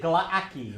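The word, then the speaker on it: Glaaki: How do you pronounce it? Glaki.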